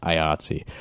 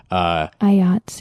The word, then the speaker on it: IATSE: Well, if we say it again, IATSE. IATSE. It rhymes with Nazi.